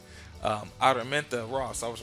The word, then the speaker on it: Araminta: All of these Noah, Moses, Harriet Tubman, or Amarita. Man, messing up. Let me say it right. Araminta Ross.